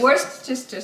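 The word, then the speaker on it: Worcestershire: We've been trying to pronounce this correctly. Worchester. That's it. That's it. That's it. Okay. Worstister sauce. There you go.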